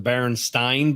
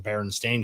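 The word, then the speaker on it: Berenstain: then the baron Baron stain Bears versus the baron stein bears you know actually spelled their last name with an a the baron stain which I I always remembered them Baron stain because I would have pronounced it Baron Stein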